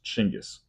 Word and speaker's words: Chinggis: Well, here's the first fact you're going to get, and it's not pronounced Genghis. The original pronunciation, the original Mongolian pronunciation, is Chinggis.